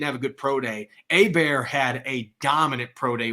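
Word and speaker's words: Hebert: announcers have been saying it wrong but Griffin a bear from Louisiana Tech he played receiver and then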